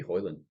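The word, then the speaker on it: Højlund: Maybe Hoyland.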